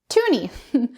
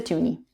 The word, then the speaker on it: toonie: So a toonie is the Canadian $2 coin, and it's called that because it has the sound 2, like the number 2 in it, and it rhymes with loony. So it's a toonie.